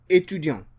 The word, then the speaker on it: étudiant: The T is pronounced for a woman, but the T is silent for a male.